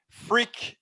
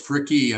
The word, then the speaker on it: Fricke: host i'm here with randy frick is that how you say your name real close fricky i pronounce the e on the end you pronounce it and